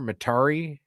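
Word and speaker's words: Metairie: Materi like Atari offers the peace and tranquility conducive to good retirement.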